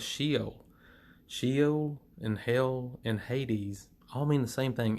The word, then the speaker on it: Hades: You can see the pronunciation here is Hades, but I'm going to call it Hades because that's what I'm used to calling it.